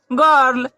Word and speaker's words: girl: इसी प्रकार GIRL, जी के बाद आई है लेकिन इस यहाँ जी की ध्वनि ग निकलती है, तो इसे हम लोग क्या पढ़ते हैं, गर्ल।